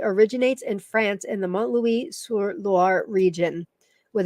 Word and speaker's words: Montlouis-sur-Loire: Die stammt aus der Region Montlouis-sur-Loire.